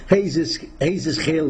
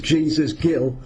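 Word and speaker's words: Jesús Gil: The thing is, there's a significant parallel between Jesus Gil, they say in Spain, Paul, but we pronounce it as Jesus Gil. That's how it reads.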